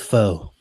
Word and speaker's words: pho: It's pronounced pho. Faux show.